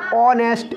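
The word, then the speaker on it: honest: एन भरा जाएगा भाई मैंने कहा अगर एच के बाद ओ आए मोस्टली तो एस साइलेंट रहेगी ऑनेस्ट ओ का साउंड आ रहा है आपको पता वो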